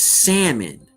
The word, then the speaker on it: salmon: You know, just like, you know, the word is salmon. The L is silent.